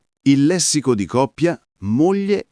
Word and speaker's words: moglie: Il lessico di coppia moglie e marito. Mia moglie, tuo marito. Piccolo trucco di pronuncia. Moglie si legge mo non mlie. La g e la l si leggono come una L normale.